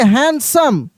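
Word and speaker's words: handsome: इसको देखिए, हैंडसम, हैंडसम, हैंडसम नहीं, हैंडसम, यहाँ पे डी साइलेंट हो जाता है, हैंडसम।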